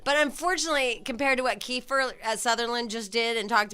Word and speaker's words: Kiefer: know what it's like I won't even be mispronouncing his name it really will be Kiefer right Kiefer and I finally got there right anyway it's